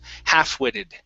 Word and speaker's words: half-witted: embrace okay and yes in this word the l is silent so instead of saying half-witted it's half half-witted okay very nice uh